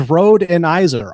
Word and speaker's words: Rhodenizer: But my name is Road Eniser.